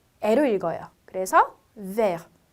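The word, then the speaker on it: vert: 그래서 vers. 그리고 끝자음은 대체적으로 제가 읽지 않는다라고 했기 때문에 t는 발음이 없어요. 그래서 vers, vers.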